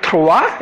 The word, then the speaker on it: trois: pronounced, so the, and the OI in trois is like va, so trois, and the trois, and from Italian onward it becomes a bit straightforward, uno, due and tre.